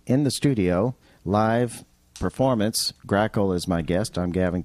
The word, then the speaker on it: Grackle: Don't forget to give them a like, and it's spelled the way it sounds, Grackle, like the bird.